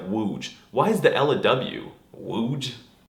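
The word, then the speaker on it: łódź: you should learn polish how the hell is this loads word pronounced like wooj why is the Ella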